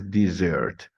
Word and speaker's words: dessert: word with one s it's confusing in pronunciation this is dessert while the other is Desert yeah Europe Europe an